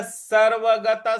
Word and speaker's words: सर्वगतः: अतः नित्यः सर्वगतः, सर्वगतः; 'गताह' के बाद आने वाले विसर्ग का उच्चारण भी 'सह' की तरह ही किया जाना चाहिए।